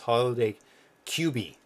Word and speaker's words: Holiday QB: cube oh my god I'm gonna pronounce this wrong cuz I did it wrong last time and it's holiday QB QB cube oh my god hope he's